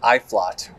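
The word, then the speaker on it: Uitvlugt: it's got a really funny name uh it's pronounced iflot u-i-t-v-l-u-g-a-t yeah i don't yeah that looks like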